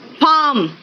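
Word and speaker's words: palm: अब आओ next L, देखो बेटा कहां कहां साइलेंट है, देखो एल साइलेंट कहां कहां है, इट्स बम, पाम, चौक।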